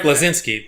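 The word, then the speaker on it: Bleszinski: Was it Cliff Blazinski? I guess. Cliffy B? Yeah, I can still never say his name right. I mean, it's Cliff Blazinski, but everyone just calls him Cliffy B.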